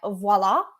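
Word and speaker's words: Voile: as those sold by Voila or Voil. That's up to you how you pronounce that one.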